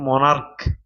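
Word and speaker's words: monarch: আর সি এইচ তুমি বলো এটা হচ্ছে কি মনার্ক তাহলে হচ্ছে কি মনার্ক এই যে এখানে সি এইচ এর উচ্চারণ হয়েছে ক এর মত সি এইচ এর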